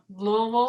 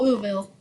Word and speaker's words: Louisville: I've been told you have to say it like you're drunk on bourbon. You know, Louisville. Louisville. Yes, Louisville.